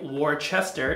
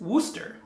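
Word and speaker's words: Worcester: would think a town a city like warchester is wooster so it's not yorkshire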